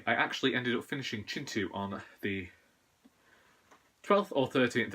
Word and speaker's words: Kintu: writer and you're interested in looking storytelling then Chintu does it properly also you may have noticed